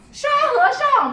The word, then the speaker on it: 沙和尚: 沙和尚沙和尚. Very good pronunciation.